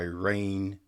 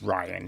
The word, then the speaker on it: Rian: by Rain No, it's Ryan, isn't it? Yeah. Ryan Johnson. Well, it's spelled R I A N. You know what I mean? But yes, now I I just remembered is actually pronounced Ryan Ryan Johnson.